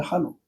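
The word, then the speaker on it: 하녹: 에녹이 아니고 한옥입니다. 한옥.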